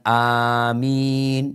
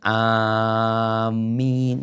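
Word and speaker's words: آمين: Adapun minnya diringankan, tidak ditasydid. Bukan amin, enggak. Jadi amin.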